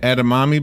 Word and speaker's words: edamame: The trendy edamame bean.